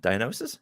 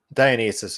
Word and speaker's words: Dionysus: serve Dionysus Dionysus um diagnosis how am I saying it wrong Dionysus is correct Dionysus okay um we